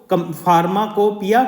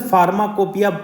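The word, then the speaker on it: pharmacopoeia: देखो Indian फार्माकोपिया commission, जैसे फार्माकोपिया पढ़ रहे हैं हम इसे, मगर इसका अलग प्रोनाउंसिएशन भी हो सकता है। मेरे हिसाब से फार्माकोपिया होना चाहिए, ठीक है।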